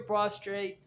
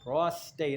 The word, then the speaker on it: prostate: prostate in my opinion to your prostrate prostate prostate I got to say it correctly colon your uterus your